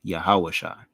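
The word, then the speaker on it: יהושע: Shah and the I so this would be pronounced yahawasha it's not pronounced as the actual root but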